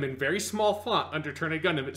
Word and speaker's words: Turn A Gundam: so he's decided Well so it's pronounced turn Gundam and to make sure